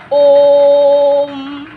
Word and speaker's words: ओम: तो अब इसका जब उच्चारण करेंगे तो हम करेंगे ओम, क्योंकि ओ को हमने 3 गुना बोला, तो ये हमारा हो गया ओम।